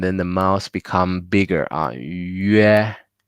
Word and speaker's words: 约: And then we have the 约, 约, start with E, right? 约, 约, perfect. That's how we pronounce the G, T, C, E with the U.